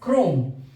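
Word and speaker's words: chrome: एंड एच इस particular word में इट is pronounced क this word is क्रोम same सी और h का ये कॉमिनेशन नेक्स्ट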